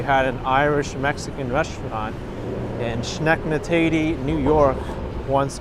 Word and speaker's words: Schenectady: You're saying the correct name is Schenectady. I think I learned how to pronounce it earlier, but I forgot already.